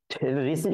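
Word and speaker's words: receipt: হচ্ছে সিই পি কিন্তু রিসিভ বার্নটা কি আর ই সি ই আই পি টি তাই না তো রিসিভ রিসিট উচ্চারণ যদিও পি আছে তাও হচ্ছে আমাদের উচ্চারণটা হবে না কিন্তু তাই একটু ডিফারেন্সটা মাথায়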